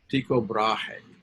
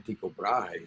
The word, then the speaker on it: Tycho Brahe: My wife and I went to Amsterdam a few years ago, and I was saying Tycho Brahe, and somebody said, no, Tycho Brahe. That's how they say it. He was Danish.